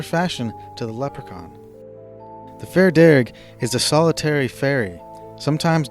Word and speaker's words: Fear Dearg: The Darrig, also known as Fair Dearg, is one such creature of Irish mythology. Darrig is an Anglophone pronunciation of the Irish words fear and Dearg, meaning red man.